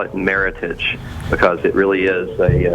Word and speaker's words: Meritage: It's not it's not meage, it's meritage. It rhymes with heritage.